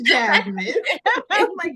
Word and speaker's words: Chasmine: their own vites CH chasmine welcome to the show about to say my name which is Jasmine get it together thank